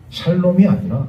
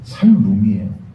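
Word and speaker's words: שלום: 그런데 정확한 히브리어 발음은 제가 예전에도 말씀드렸다시피 샬롬이 아니라 살룸이에요.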